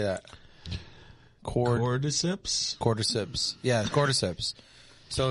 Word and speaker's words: Cordyceps: Cordyceps?